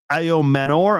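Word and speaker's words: Ayomanor: Uh one of the top wide receivers right now, Alec Ao Manor, I believe is how you say it.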